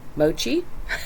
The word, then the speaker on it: Mochi: Hi, it's Miss Priscilla at the Apple Notice Library, and I am book talking I Love You So, Mochi. That's the right pronunciation.